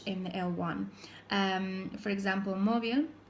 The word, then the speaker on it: móvil: For example, móvil, spelled with a V, but it's pronounced with a B, móvil.